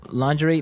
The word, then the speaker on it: lingerie: Now, the spelling of this word is interesting, isn't it? Yeah, it's spelled L-I-N-G-E-R-I-E. Lingerie. Lingerie. Yes. Don't you love English spellings?